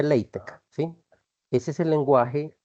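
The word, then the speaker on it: LaTeX: acá ap parte se llama látex sí se pronuncia leitec sí Ese es el lenguaje eh Para trabajar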